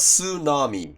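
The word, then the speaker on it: tsunami: This word is also English, but the English pronunciation is soo-NAH-mee.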